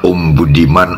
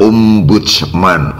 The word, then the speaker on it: Ombudsman: ya, sekilas melihat di banner atau backdrop, kita membacanya Om Budiman atau Om Budi Saiman. Terkesan nama orang dengan panggilan Om, padahal yang dimaksud bukan itu, sangat berbeda dari perkiraan, hanya keliru membaca saja. Yang benar adalah Ombudsman Republik Indonesia, sebelumnya bernama